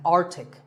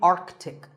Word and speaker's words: Arctic: Pole of the earth it's mispronounced by many as Arctic but it's actually Arctic the see in the middle is not silent similarly aunt Arctic and